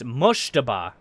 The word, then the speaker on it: Mojtaba: Okay, it's Moshtaba. So you do pronounce that last end.